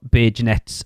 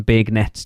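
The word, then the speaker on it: beignets: I mean, to be fair, until we found out how you pronounce them, we used to call them big nets.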